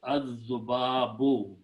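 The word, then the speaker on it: الذباب: But when you put the al before that, it becomes azubabu.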